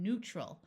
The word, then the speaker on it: neutral: In these words, the EU has the second long U sound of U, like in neutral.